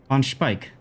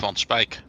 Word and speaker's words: Van Speijk: for a second and tell us how to pronounce please so we can learn um the spike on Spike the on Spike on Spike yeah and I'm not familiar with